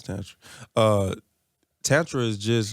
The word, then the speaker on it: Tantra: Yeah, it's Tantra.